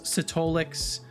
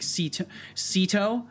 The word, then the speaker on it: Setolyx: Setolyx is fine. Setolyx, Setolyx. Usually it's one of those two that people fall into. The original intended pronunciation that I had in mind was Setolyx, but I'm fine with whatever, as long as you don't call me like Ceto.